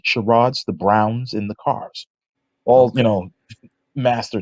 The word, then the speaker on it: Carr: My grandfather's name is Willie Marshall Carr. Willie Marshall Carl? Carr, as in C-A-R-R.